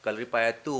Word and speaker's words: Kalaripayattu: कलरी पया हां कलरी पया बोलते हैं लेकिन हमेशा हम टा और ट को वो जो एक साथ प्रोनाउंस टी का तो वैसे ही वो ट होता है कलरी पयातू होता है ट नहीं होता है ठीक है फर्स्ट